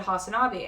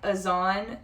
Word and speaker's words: Hasanabi: But I think it's like Azan, and then you say and then the word B, like it's a B, like B, you know.